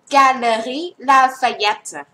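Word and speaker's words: Galeries Lafayette: เ ข า อ่ า น ว่ า Galerie Lafayette โ อ เ ค ต่ อ ไ ป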